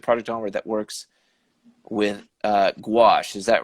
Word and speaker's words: gouache: You'll have to correct me if I mispronounce this, but you are the only artist at Project Onward that works with gouache.